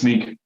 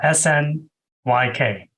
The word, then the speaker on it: Snyk: okay sneak oh sorry I think it's pronounced sneak you're probably right that sounds more I've been pronouncing it Snick in my head yeah that's right probably right about that yeah snyk right yeah uh and